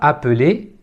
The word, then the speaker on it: appelle: la voyelle appel et le E final n'est pas prononcé appel appel même phénomène